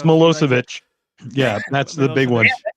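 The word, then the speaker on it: Milošević: I say it it's mosovich yeah that's the big one it's it's spelled so different than it sounds but it's mosovich it's the one that sounds familiar but doesn't look it yeah uh that's again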